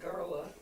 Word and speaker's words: Gala: Gala, we pronounce it Garla.